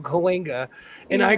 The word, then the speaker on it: Cahuenga: little and I didn't know like tsunami was spelled with a T, I go, what is T tsunami? Cahuenga. I called it Cahuengi. There's a street in my town called Cahuenga, and I Yeah.